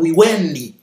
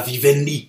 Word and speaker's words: Vivendi: Ndengo lingi nakoki ko prononcer Vivendi, nakoki ko prononcer Wiwendi.